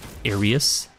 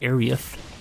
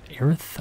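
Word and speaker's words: Aerith: was apparently wrong and her name was Arius a e r i s but apparently her name is supposed to be arieth or arith I'm not sure how you're supposed to pronounce it because as a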